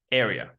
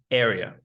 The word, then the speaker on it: area: Pay attention to the a sound here. It is definitely not it's area. Area. That's right. The a in the word area 51 is like the a in these words acorn, able, and age.